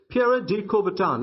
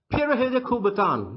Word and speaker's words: Pierre de Coubertin: de Coubertin in English it's a French name it was the founder of modern Olympics Pierre de Coubertin it's the English pronunciation of the French name but the real French pronunciation goes like this para hill de Coubertin pirahã kubaton does a